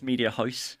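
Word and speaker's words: Mediahuis: This is actually one of the benefits from being where I'm from, because it's the one time I pronounce something correctly. It's Media House.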